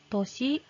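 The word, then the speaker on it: 年: n atau si jadi kanji ini berdiri sendiri bisa dibaca toshi atau tahun kemudian ichinensei ichinensei siswa tahun pertama Nen ya bacanya nih Hai kanji berikutnya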